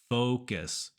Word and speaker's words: focus: can still be offensive the key is this o sound Focus o fo Focus your lips should round a little bit focus and that'll make it